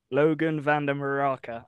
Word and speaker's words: Logan vande Meerakker: Logan vande Meerakker.